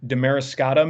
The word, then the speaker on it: Damariscotta: The other is in Maine, Damariscotta, Maine, I believe is how you pronounce it.